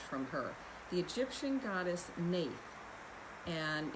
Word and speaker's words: Neith: and what evolved from her the egyptian goddess nate and it's spelled not spelled like that at all it's